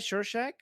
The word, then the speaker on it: Rorschach: Shorshak? Is that how you pronounce his name? Yeah. Oh yeah. So yeah, Rorschach.